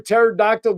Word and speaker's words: pterodactyl: So, why can't you hear a pterodactyl go to the bathroom? Go for it. Because the P is silent.